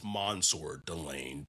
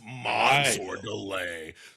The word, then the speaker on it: Mansoor Delane: It was like, so I know, like, can you give the people like the correct pronunciation of your name? I know it's Mansoor Delane, but I've just been hearing like a lot of people saying it's Mansoor.